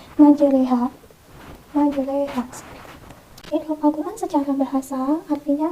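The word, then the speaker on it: مَجْرٰىهَا: Tulisannya memang majriha, namun kita bengkokkan huruf to yang tadinya ini menjadi re. Jadi kita tidak lagi membacanya majriha, namun menjadi majreha.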